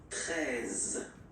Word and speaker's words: treize: Then now if you combine this E and E, you get the sound E, really open, treize, treize, final E, as usual, not pronounced, treize, treize, okay?